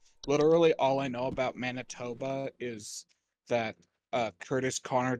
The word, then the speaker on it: Manitoba: place again please bright Manitoba Manitoba not mantoba like this is Canadian it's not that hard risk profile moderate okay so it's getting bigger poor Manitoba literally all I know about Manitoba is that uh Curtis